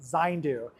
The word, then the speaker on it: Zayndu: Well, thanks so much everyone for joining me here at 80acres Farms in Florence, Kentucky to learn more about Zindu.